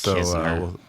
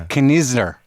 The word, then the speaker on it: Knizner: It's Kisner. It's Kisner? That's how you say it? The N is silent? The N is silent. Well, one of the N's is silent. Yeah, the first N. It's Knizner.